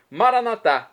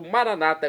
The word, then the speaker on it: Maranatá: Maranatá, como dizemos nós católicos, ou Maranata, como dizem nossos irmãos separados das comunidades evangélicas ou protestantes. É do aramaico, dialeto de Jesus. Não importa a pronúncia, o significado é vinde, Senhor Jesus.